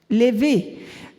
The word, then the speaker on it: Levi: Levi. Levi means Lev in Hebrew means my heart. And the moment you get the E sound at the end, it means my heart. Levi, my heart, Levi.